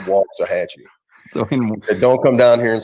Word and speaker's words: Waxahachie: pronounce the city correctly it's walk as as if you're walking it's walk to hatchy don't come down here and say wax that's okay so now we know walk hatch e very good i know